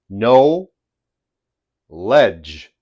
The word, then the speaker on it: knowledge: No ledge. By the way, as I said with the KN, where the K is silent, when we have the